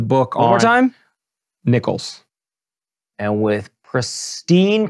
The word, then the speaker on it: Nichols: Nichols. And with pristine pronunciation.